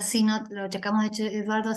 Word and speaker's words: Sinnott: Esta vez vamos a contar con la presencia del profesor Sinot, perdón, porque se pronuncia Sinot, lo checamos de hecho,